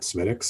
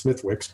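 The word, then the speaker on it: Smithwick's: It doesn't matter that Smittix, it's not Smittix, it's Smithwicks, but that's the way you pronounce it.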